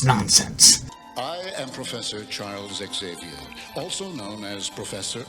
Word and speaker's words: Xavier: Xerox, Xylophone, Xerxes, Xanthan Gum. Why would you think his name was pronounced in any other way than Xavier?